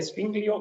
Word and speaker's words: Zwingli: ¿Qué nos pueden decir sobre Zwinglio y Calvino entonces?